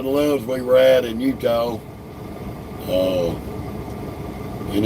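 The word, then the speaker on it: Eutaw: Uh, and it's not spelled like Utah and the state of Utah. It's Utah, Alabama. It's spelled E W T A W. Oh, no, excuse me. Eu, T a W. Utah. And please don't mispronounce that.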